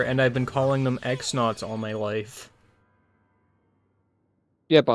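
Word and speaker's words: X-Nauts: That's why I've, you know, when I find out that, oh, they're supposed to be pronounced cross knots, I'm like, no, that ain't happening.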